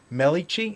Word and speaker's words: Melikechi: a writer, a UML professor and dean, Noureddine Melikechi. Am I pronouncing the last name? Melikechi, last name? Yeah, Melikechi, yes.